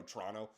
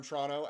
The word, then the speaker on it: Toronto: It's so funny how I, on these videos, try to say Toronto, the whole thing, when really in day-to-day life, I usually just go Toronto. My dad's from Toronto, and that's how he pronounces it. That's how I pronounce it. But in these videos, I try to go Toronto.